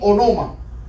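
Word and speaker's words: ὄνομα: En griego, miren la pronunciación aquí, onoma.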